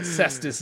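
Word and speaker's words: Cestvs: But Ssss is spelt with a V.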